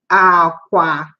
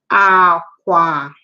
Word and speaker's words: akwa: So where you go to sleep, the bed that you sleep on is called aqua. So same spelling, but different sounds, okay. Aqua, different pronunciation, I mean.